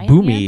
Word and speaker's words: Bumi: bumi earth king bumi earth King you me is how I would say it Bumi it's reflexive yeah